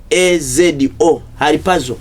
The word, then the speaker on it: harpazo: Haripazo. But by pronounce yandibanga pronunciation sinto funenga spelling ya jikuwadde.